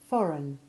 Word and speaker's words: foreign: Remember too the different sounds of the EI combination, according to whether or not it is stressed, as we hear in foreign, which has the short E3 sound, and reign, which has long A1.